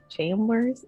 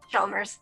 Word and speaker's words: Chalmers: stranger than fiction today's special guest is chambers is that how you say it chalmers chalmers i'm sorry um the chalmers author of